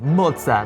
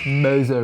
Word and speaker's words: Moza: the moza brand and you're going to hear me pronounce this more like an Italian moza moza racing right but the Americans will say MOA mosa racing I think the Italian way sounds a bit better anyway this company is